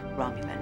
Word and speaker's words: Romulan: It's pronounced Romulan.